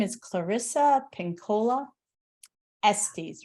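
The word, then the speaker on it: Estés: Yeah, and her name is Clarissa Pinkola Estes, right?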